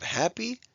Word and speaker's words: happy: word like this one we don't say happy we say happy when we have two syllable words that end in y it now usually sounds like an e so we have happy sloppy cloudy jumpy we